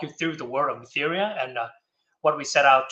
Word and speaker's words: Mytheria: So without further ado, let's welcome the first project to start, which is the Mysteria. Hope I pronounced it right. But yeah, feel free to start when you're ready. Hello there. It's Mytheria.